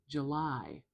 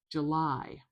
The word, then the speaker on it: July: So, I'm going to put the stress before the L to indicate the stress is on the last syllable in this word.